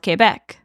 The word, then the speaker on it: Québec: While we refer to it as Quebec City in English, in French it's just called Québec, like the province.